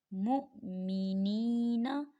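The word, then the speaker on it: مؤمنين: खीच कैसे पढ़ेंगे मुमिनीन आपने मीम को हमजा से मिलाना है वा से नहीं मिलाना वा यहां साइलेंट हो जाएगा देखिए अगर वा के ऊपर साकिन होता तो आप इसे वा से मिलाते लेकिन वाव के ऊपर हमजा आ गया है तो यहां हम हमजा को पढ़ेंगे वाव को नहीं पढ़ेंगे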